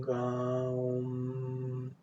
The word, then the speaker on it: Raom: Sí, este mantram se pronuncia de la siguiente forma. Rum, Raum.